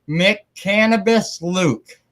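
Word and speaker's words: McCannabis Luke: I want to make sure I try to pronounce this right mck cannabis Luke yes sir all right there we go I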